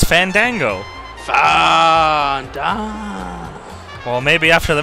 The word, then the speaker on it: Fandango: It's Fandango.